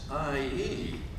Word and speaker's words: Lisa: And I'll go, okay, how do you say L-I-S-A? Oh no, it's Lyessie.